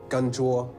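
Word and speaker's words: canh chua: Gan chua.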